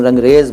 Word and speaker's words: रंगरेज: लेकिन अगर आप किसी को रंग रज शब्द बताएं तो बोलेगा नहीं, गलत बोल रहे हो तुम, रंगरेज बोलो। तो रज जो था वो रेज हो गया, लेकिन है फारसी का।